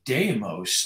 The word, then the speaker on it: Deimos: like you know uh there's a moon of Mars d-e-i-m-o-symos demos yeah yeah which one and I think it's Deimos I mean it just depends it's Greek and who uses ancient Greek to pronounce things now we've corrupted all